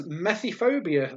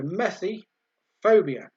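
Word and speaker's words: methyphobia: OB I a so methi phobia mess like methylated spirits I guess methi methi phobia so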